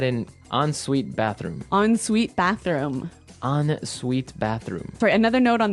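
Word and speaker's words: en suite: s UI t e so even though it's e n we pronounce it like an o n yep on Suite so an on Suite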